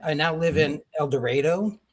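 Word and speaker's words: El Dorado: I now live in El Dredo. Here in Kansas, we don't pronounce things the way everybody else does. It's El Dredo.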